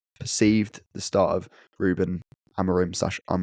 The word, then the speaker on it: Amorim: Apparently, you're not supposed to say the A. It's like Amorim, but I didn't listen to him.